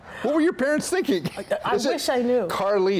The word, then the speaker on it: Carlease: were your parents thinking Carlie it's spelled just like a Carlie so like spelled spelt spelled like Elise on a car I've been asking my